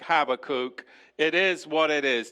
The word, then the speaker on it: Habakkuk: on an adventure in the book of have a cook or a bar cook or all of the other multitude of ways that you could pronounce it I like Habbakuk it is what it